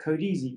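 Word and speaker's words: Kodezi: tools out there like code easy which does this uh it's spelled a completely unintuitive way k-o-d-e-z-e how easy what it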